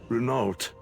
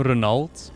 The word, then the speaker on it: Renault: let us move on he calls him renault instead of renault i always thought it was renault like the auto brand oh man another name i'll have to pronounce differently from now on renault's okay darien you